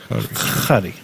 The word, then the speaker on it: Hari: Is it pronounced Harry or Gary in Ukrainian? Is that Hari Krishna. Hari? Hari.